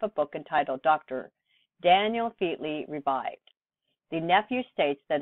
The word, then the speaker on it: Featley: Fairclough, is Daniel Fairclough, otherwise known as Dr. Daniel Featley, which, strange to say, is a corrupt pronunciation of the name Fairclough.